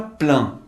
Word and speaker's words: plein: Observe a palavra plein, que significa cheio. Observe que o EIN tem o som de AN.